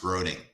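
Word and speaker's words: Groening: groning g-r-o-e-n-i-n-g i think i think it's pronounced groding yeah i wanted to say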